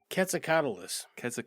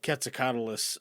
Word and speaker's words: Quetzalcoatlus: Quetzalcoatlus? Wow. Is there an S on the end? Yeah, on this. Yeah. Okay, I was like, I hear it singular usually, Quetzalcoatl. But Quetzalcoatlus.